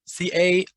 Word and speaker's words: cairns: go kick rocks uh knockdown 12 anarchist cairns c-a-i-r-n-s i don't necessarily know how to pronounce that word yeah it's cairns yeah it's